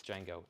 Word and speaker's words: Django: conway twitty conway twitty see that was the first thing that came to mind even though i now know it's django do you have steppenwolf